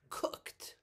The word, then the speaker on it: cooked: Okay, then we have cooked, cooked. Again, ED, but we pronounce it like there's a T.